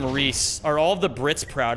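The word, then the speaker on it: Rhys: and you're like, "Wow, it would be really cool if that name was pronounced Rise, but instead it's pronounced Reese, which is not nearly as cool, but it's still pretty cool."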